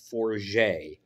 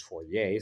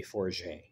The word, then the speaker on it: Fourier: I did find out it is Fourier. And at first I was told it was Fourier, so that's how I've been pronouncing it. It is Jeremy Fourier. So, got to correct that.